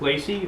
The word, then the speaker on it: Lacey: in brevard county yes my name is lacy rhymes with dick tracy for those of you